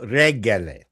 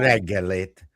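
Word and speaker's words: jó reggelt: trick with Hungarian is to emphasize the first syllable.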